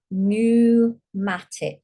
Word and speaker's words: pneumatic: purple ones p n so we don't say the p you say newmatic like here pneumatic newmatic